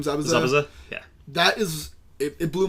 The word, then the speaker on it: Zabuza: Zabuza, yeah.